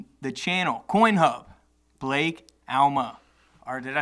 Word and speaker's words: Alma: Alma yeah that wasn't fun but you know Alma is the proper pronunciation dude you're crushing it on social social